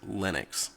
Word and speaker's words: Linux: where that name came from so the correct pronunciation of that is Linux the next one I want to talk about